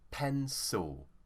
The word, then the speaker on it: pencil: here the stress is on pen so saw pencil now if there are any italians watching my